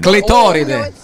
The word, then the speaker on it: clitoride: Clitoride. Is that true? Sound bad. Sounds like a That's why I was saying it in Italian. What shape is that I pasta? hate Say it again. Clitoride.